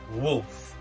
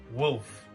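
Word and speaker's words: Wulph: my company is Wolf now wolf is not spelled as in W LF but in indeed it is spelled w u l p h and I just find it kind of irrelevant but just as a fun fact but the pH in the end for like pH in water so that's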